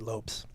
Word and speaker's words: Lopez: really get um Joe Lopez says hey hey oh cool cool that's one of your friends I guess he pronounces it Lopes oh sorry Joe yeah sorry Joe Lop sorry about that yeah